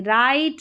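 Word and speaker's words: write: डब्ल्यू आर के combination में W silent रहता है। जैसे राइट रॉन्ग ठीक है?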